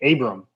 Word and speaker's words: Abram: it Abraham Smith Bowman what's the proper way to say Smith Bowman and it's actually Abram Abram it could have